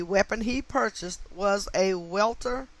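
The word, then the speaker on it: Walther: he purchased was a welter i'm going to pronounce that walter w-a-l-t-h-e-r a walter p 22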